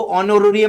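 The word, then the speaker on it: honorarium: employee नहीं रहते वो ऑनरियम मिलता है जिसमें एच साइलेंट है रेमन रिसीवड बाय गवर्नमेंट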